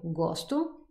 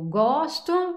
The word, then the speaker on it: gosto: de vous dire que c'est toujours l'avant-dernière syllabe qui est la syllabe forte. Donc, eu amo, eu gosto, eu estudo.